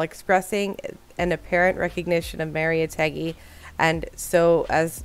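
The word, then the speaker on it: Mariátegui: else i'll go okay so it's maria teggy maria teggy that's how we're pronouncing it okay okay i'm gonna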